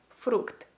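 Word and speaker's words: фрукт: So if you want to say fruit in Ukrainian, you would say it like fruct, fruct, fruct.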